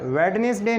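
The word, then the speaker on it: Wednesday: और वेडनेसडे नहीं, वेडनेसडे।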